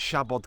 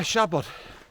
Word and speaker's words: Siabod: as we walk up the hill but yeah Shabad how to pronounce it first of all well it's spell s a b o d MO shabot Mo just means bare or bald in Welsh shabot is the hill so just a Bald Hill